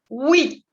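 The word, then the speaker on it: huit: 8, vous dites 8. 8. La H en francés siempre es muda, al igual que en español, y la UI siempre va a ser oui, como oui en francés, ¿ok? 8.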